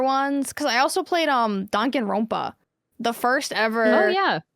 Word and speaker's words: Danganronpa: Pronounce it Danganronpa. correct.